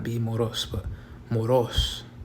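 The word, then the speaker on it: μωρός: So it would be moros, and it has a acute accent, above the O. So you would stress that syllable. You would emphasize that. So it would not be moros, but moros, not moros, or moros.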